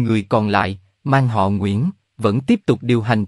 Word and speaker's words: Nguyễn: bỏ dấu cho nên Nguyễn được chuyển hóa thành nien đồng thời người châu Âu không phát âm được vần nguy nhưng khi họ phát âm từ Nguyễn thì ta có thể hình dung ra từ nien nhưng tại sao lại